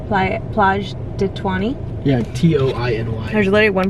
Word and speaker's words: Toiny: It's called Plage de Toiny. Yeah, Toiny. There's literally one person at the beach. I think they pronounce it like 20.